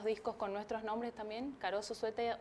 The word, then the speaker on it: Karoso Zueta: Bueno, tenemos el canal de YouTube que se llama Caroso Sueta, que Caroso es con K y S, todo lo contrario a como se escribe Caroso. Caroso Sueta con Z y 2T.